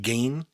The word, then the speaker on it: Gein: Is that how you pronounce it? Gein? Yeah, Ed Gein.